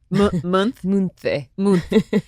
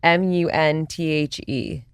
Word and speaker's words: Munthe: Munthe. Every time I say like a brand name or something, Olivia's like, no. It's pronounced, the H is silent, the G is